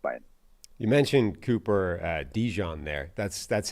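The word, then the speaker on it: DeJean: with this draft by you mentioned Cooper uh Dijon there that's that's how is that's the Dane official pronunciation guide It's Cooper mustard that's what we're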